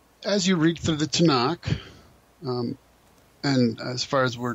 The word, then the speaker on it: Tanakh: And so Tanakh ends up just being pronounced as Tanakh.